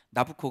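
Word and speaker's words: Nabucco: 보시면 나부코 라고 해요 나부코 가 느부갓네살의 이탈리아 발음의 나부코 해야 되나 보고 누부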